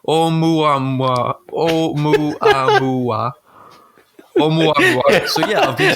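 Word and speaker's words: ʻOumuamua: It says, in his forthcoming book, Professor Loeb makes a compelling case for why the object called Umwamba, pronounced Oumuamua.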